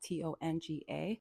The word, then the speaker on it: Tonga: And well, the way that they pronounce it is Tonga, which sounds like it's spelled with a D.